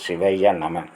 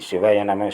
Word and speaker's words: சிவய நம: ஆகைய இயக்கக்கூடிய சக்தி வாய்ந்தது சிவய நம நாம் உச்சரிப்பை சிவய நம சிவய நம என்று சொன்னால் சிவய நனமை என்பது மூச்சு காத்தை சீர்சென் தமிழில் ஐந்தெழுத்து உச்சரிப்பு இது நிடில் வந்திருக்கக்கூடிய சிவாய நம என்று உச்சரிக்க கூடாது. அடுத்ததாக சிவலிங்கம் மத சின்னம் கிடையாது.